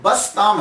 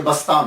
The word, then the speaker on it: बस्ताम: तो ये जो बस्ताम है असल लफज़ जो है ये बस्ताम है। तो कुछ लोगों ने बिस्तामी कहा, कुछ ने बस्तामी कहा